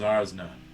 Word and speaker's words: Arsna: z's around here zazzler it's ours it's a z sound but it's actually spelled with an s oh oh okay oh like ours nick wow did you spell